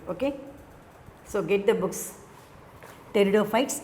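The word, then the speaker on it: Pteridophyta: so get the books teredo fights erp is the silent so we have to say what terrible fights p is the silent letter the same like this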